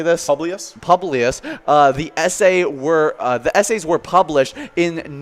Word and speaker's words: Publius: Publius.